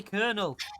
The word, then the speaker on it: colonel: an R in there, but it's not like spelled with an R. I'm so that's English. How can I not say Colonel?